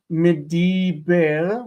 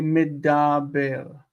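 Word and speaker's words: מדבר: So instead of mediber, we say medaber.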